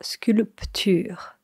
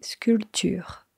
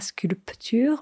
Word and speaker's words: sculpture: Alors attention, quand on voit le mot sculpture, il y a un P, donc on a l'impression de voir sculpture. Mais en réalité, quand on parle, on ne prononce pas ce P. On dit sculpture. Pas sculpture, mais sculpture.